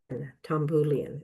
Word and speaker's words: Tomboulian: Tambulan is how you say it, right?